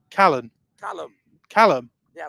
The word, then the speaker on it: Callum: Callum. Yeah, like the name. Archie Callum, not Callahan.